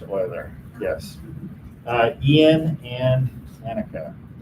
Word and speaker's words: Euler: and kayla boiler yeah it does look like euler it is pronounced euler yes uh ian and